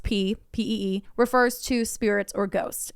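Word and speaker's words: ผี: the environment the word p spelled Phi but pronounced p PE refers to Spirits or ghosts in Thai and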